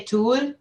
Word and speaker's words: Thule: How do you say that? I say Tool. Because I always called it the Thule, but now I know you're not supposed to use H's in anything.